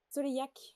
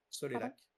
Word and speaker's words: Soleillac: Frédéric Maupomé et Aude Soleillac, Soleillac, ouais. de hein? Pardon? Soleillac. Soleillac. Ah oui, Mhm. pardon, je le prononce ça à l'auvergnate.